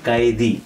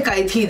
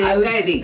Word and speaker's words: Kaithi: Yes, which is called Kaithi, actually pronounced Kaidi. Yeah, so you don't have to say Kaithi then, you have to say Kaidi.